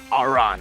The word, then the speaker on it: Aran: Aran. That's what I'm trying. Yeah, for the people back at home, you know, Aran's name rhymes with ran, so that's the joke.